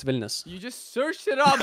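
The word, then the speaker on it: Vilnius: I live there I'm not going to lie billus I live there oh that's not bad I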